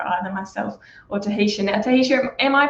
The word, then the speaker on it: Tahitia: Now, Tahitia, am I pronouncing your name right to get us off the bat?